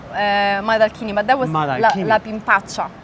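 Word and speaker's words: Maidalchini: the woman Madacci, Olimpia Madacci. Am I pronouncing the last name right? Donna Olimpia Madalchini, but that was La Pimpaccia.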